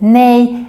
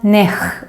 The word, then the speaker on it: nej: the e in swedish so it's pronounced like nay and not nech or something like that and now i'm looking